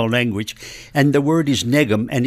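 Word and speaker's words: nekm: and the word is Negan and it's spelled n e k m now you'll recognize that the K sounds like an English G yes but really it's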